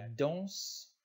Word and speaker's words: danse: 1 la france blanc enfants le manteau la danse l'enfant une dans le vent le vendredi un